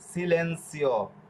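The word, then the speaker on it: silenzio: দেখুন জেতা অক্ষরের পরের অক্ষর যদি ইয়া, ইয়ে, ইয় এগুলো থাকে তাহলে জেতা অক্ষরের উচ্চারণ ছয়ের মতো হবে, যেরকম সিলেন্সিও, এই যে ইয় রয়েছে সিলেন্সিও।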